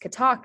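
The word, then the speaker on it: kathak: so examples of this this word is uh pronounced catac in um the unabridged dictionary so that h is silent balu that h is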